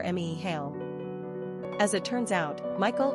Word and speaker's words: Micheal: In the Gaelic tongue, the Ae is flipped to Ea and is pronounced Mehal or Mehal.